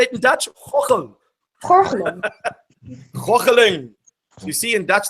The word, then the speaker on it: gorgelen: Gorgelen.